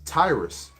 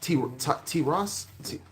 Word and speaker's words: Tiras: It says the son of Japheth, Gomer and Magog, and Madai and Javan, and Tubal and Meshach, and Tyrus. Khan. So there you say Tyrus? Tiras? Tiras. Spell it.